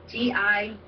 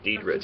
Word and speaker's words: Diedriche: That's for Jennifer Lynn Diedriche, Diedriche. Yeah, I spelled it out phonetically, Diedriche.